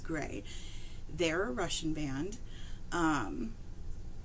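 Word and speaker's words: Grai: Charlotte Russell's career she is a phenomenal singer gray so it is spelled g r a i on YouTube and I have been pronouncing it as gry until I started doing some research for this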